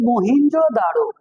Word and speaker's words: Mohenjo-daro: Pronunciation Sindh वाले और तरह से कर सकते हैं, हम और तरह से कर सकते हैं। इलाकाई जो एक इख्तिलाफ होता है उसकी बुनियाद पर हम इसे पढ़ेंगे मोहनजोदाड़ो।